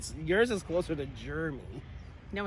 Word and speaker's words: Jeremy: So he said his first syllable sounds like Jeremy. chair. Jeremy? It rhymes with chair.